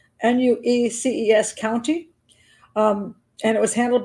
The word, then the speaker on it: Nueces: Shot to death on February 4th, 1999 at Wayne's home, Wainwright's home in Texas, and I think it's pronounced Nueces, Nueces County, and it was handled by the county sheriff's department, and it was eventually labeled a justified homicide.